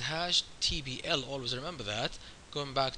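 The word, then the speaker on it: Hashtbl: Let's go to our beautiful top loop, and remember, hash table, by the way, in OCAML, the way it's pronounced is hash TBL.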